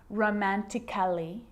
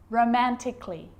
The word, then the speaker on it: romantically: the letter a now the letter a can be silent especially in words that end in a l l y like these romantically musically logically so i'm not pronouncing romantically musically and logically cut